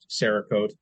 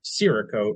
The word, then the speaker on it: Cerakote: But I've always pronounced it Cerakote, like Sarah's coat, Cerakote, and Tanner pronounces it Cerakote, like the store that probably doesn't exist anymore, Sears, Cerakote.